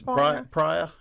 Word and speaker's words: Pryor: pronouncing your names correctly yeah higher yes prior yeah Fire Lake in